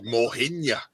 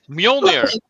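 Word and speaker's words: Mjölnir: he could do Mohinya. Ooh, what? All right, maybe I'm not pronounced it right. Thor's hammer. Mjolnir.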